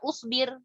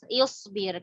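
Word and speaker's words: اصبر: Berarti bacanya bukan usbir. Bukan asbir ya. Ingat hamzatul wasl ini kebanyakan rata-rata dan itu diawali dengan kasroh atau dhammah ya. Jadi kalau ada yang baca asbir ini nggak tahu. Jadi isbir karena baknya kasroh huruf ketiganya.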